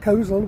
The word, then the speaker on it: Coleshill: Uh but indeed the people who were talking about Kosal were indeed talking about Kohl's Hill. Uh, and and so that's what the the local way of pronouncing this place's name is.